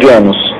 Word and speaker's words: Genos: Genos, a pronúncia é Genos.